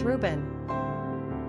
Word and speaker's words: Reuben: popular Ben behold it's Reuben quick facts on Reuben gender boy origin Hebrew number of syllables two ranking popularity 898 pronunciation r o BN simple meaning Behold a